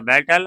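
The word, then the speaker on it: beat: Our enemies in द बैटल our army was bitten. We three में बिटन हो जाता है। और वी टू में बीट का उच्चारण बेट हो जाता है। लेकिन स्पेलिंग सेम रहता है।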